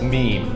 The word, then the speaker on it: meme: It's pronounced meme. I mean, seriously, it was tolerable to have things pronounced incorrectly on the internet in like 1995 when you were MySpacing it with Tom, but believe me, it's just meme. It's not Mimi, the walking poodle dog